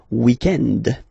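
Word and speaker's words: week-end: So if we're talking about the weekend, okay, but then pronounce it the French way, weekend.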